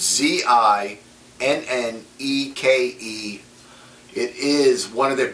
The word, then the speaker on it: Zinneke: I have no idea how to pronounce it. It's Zinneke.